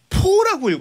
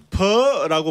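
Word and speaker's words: phở: 자 이게 쌀국수가 우리는 뭐 그러니까 포라고 알고 있죠. 그 그렇지. 포도 아 맞다. 정확한 발음이 아, 그래서 아니고요. 간판에 포가 많구나. 네, 네, 네. 퍼라고 발음하는 게 퍼?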